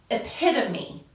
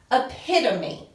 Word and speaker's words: epitome: it is the word epitome epitome it looks like a pit tome we pronounced it pronounced